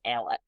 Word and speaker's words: Alec: Um, but essentially the dad ends up calling his name is it looks like Alex, but it's pronounced Alec.